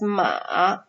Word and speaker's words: 马: This character actually is pronounced as 马.